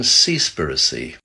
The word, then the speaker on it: Seaspiracy: so have you seen seaspiracy I think that's how you say it it's actually seas and piracy but made into one word it's not comfortable viewing